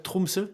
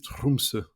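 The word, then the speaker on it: Tromsø: Français j'arrive pas mais en norvégien les r il les roulent comme en espagnol du coup c'est trumse ok ça marche donc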